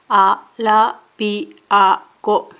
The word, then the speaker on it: アラビア語: ARABIAGO DE SHAIN TO HANASHI MASU」 "I speak Arabian with employee" "Arabian" is アラビア語ARABIAGO mora is 5 A - RA - BI - A - GO Kanji for 員(IN ="member") in 社員(SHAIN="employee") are written from top to bottom.